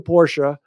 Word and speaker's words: Porsche: But no, I like the Porsche, pronounced Porsche, Sure.